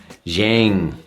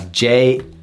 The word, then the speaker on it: Jiang: I'm gonna call it Zhang. Zhang. It's Jiang. plate in it, and where